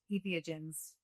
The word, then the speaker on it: entheogens: Do I try you know insert you know a number of other modalities solutions um ethogens? Am I even pronouncing that correct?